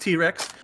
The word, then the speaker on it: T-Rex: Respawn just let me know it is pronounced T-Rex.